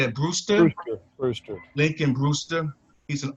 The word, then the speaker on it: Brewster: Brewster.